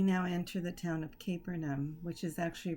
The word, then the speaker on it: Capernaum: We now enter the town of Capernaum, which is actually pronounced Capernaum.